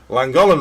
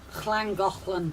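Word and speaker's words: Llangollen: Um, did you visit I'm not even going to pronounce my Welsh is terrible. I even got told that I was saying Langoland wrong. Clangoland.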